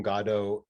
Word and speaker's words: Godot: Was the award-winning Escape from Godot the first such project? It was. And also kudos to you for pronouncing it correctly.